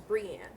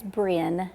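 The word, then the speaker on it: Breane: And it's Brienne. Well, it's Bin. It's It's pronounced like B R I N, but it's Yes, ma'am.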